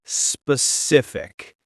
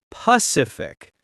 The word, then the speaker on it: specific: When I was a kid, I had trouble pronouncing the word specific. Oh, that's a hard one for many people. I used to say Pacific, like the ocean.